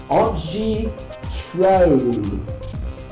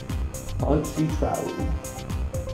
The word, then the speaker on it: Antje Traue: Even more difficult to pronounce is the name of the actress who actually plays Faora. And her name is Antje Traue. Antje Traue.